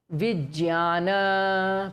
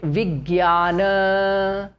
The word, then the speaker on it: Vijnana: Okay, next word in the same row, Vijnana. Please repeat. Vijnana. In Hindi, we will call it Vigyana. The Marathi way will be Vijnana.